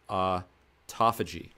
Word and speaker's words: autophagy: And all of this is to say is that it enhances something called autophagy. And it looks like auto autophagy, but it's actually pronounced autophagy.